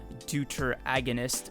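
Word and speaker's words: deuteragonist: Like, I obviously want him to be the deuter agonist of the series, which I just recently found out is how you say that word.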